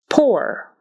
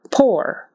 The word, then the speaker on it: poor: we pronounce them differently poor is pronounced as if it was just an o r and sour is pronounced